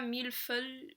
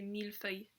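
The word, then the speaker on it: mille-feuille: pas toujours pareil et c'est pas mille fun fun et c'est pas mieux feuilles ses mille feuilles donc hors hockey ou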